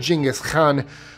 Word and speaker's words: Genghis Khan: Genghis Khan, or as they actually pronounce it in Mongolian, Genghis Khan, was a formidable force of the 13th century.